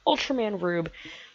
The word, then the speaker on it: Ultraman R/B: you enjoyed them also Ultraman are /b pronounced Ultraman rube coming your way I'll